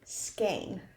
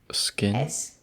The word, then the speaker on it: skein: our second to last one is a skein. Skin. Skein. Skein. I just put it in the chat. That's how it's spelled.